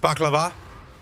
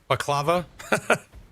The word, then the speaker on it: baklava: And it's pronounced baklava, not baklava.